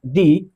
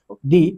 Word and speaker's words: the: तो इससे पहले प्रयुक्त टी एच ई को हम डी उच्चारित करेंगे।